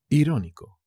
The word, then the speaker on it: irónico: por supuestísimo al bronx irónico e irónico con acento en la primera anoche irritado irritado geminoid